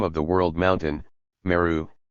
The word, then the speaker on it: Meru: of the world mountain, Meru, is pronounced in some dialects as Miruah, the letter H being strongly aspirated.